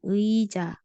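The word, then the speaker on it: 의자: jadi yang di sini karena dia di awal Jadi dibacanya ei ditambah ja ei ja selanjutnya ada anggur nah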